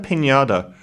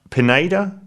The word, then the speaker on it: Pineda: person played by Daniela Pinada. Pineda Pineda. I don't think it's Pinñata. It's not spelled the same.